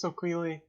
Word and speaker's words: Soquili: Alright, so Queely. Yeah, I was going to is ask about my- pronunciation. Yeah, it's a Cherokee word for horse. Gotcha, makes sense. Yeah. His name's Soquili.